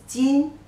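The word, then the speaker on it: 今: And it evolved, you know, currently the simplified version like this means today, the pronunciation is jin, jin, jin.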